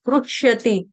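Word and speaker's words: हृष्यति: कहीं पर ऐसा बोला जाता है जैसे ऋषिकेश, तो उसको ऋषिकेश, लेकिन यहाँ उच्चारण क्या है, आधा ह और रू, रू कौन सा, रुमाल वाला छोटा रू। ठीक है, रू, रू, रू, रुष्यति, रुष्यति।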